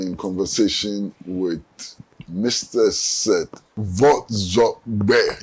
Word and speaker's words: Vordzorgbe: Seth Vordzorgbe. Yes, 3 syllables.